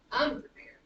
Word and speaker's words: unprepared: So if I say unprepared, not unprepared, unprepared. The stress is on the last syllable, so it's unprepared, unprepared.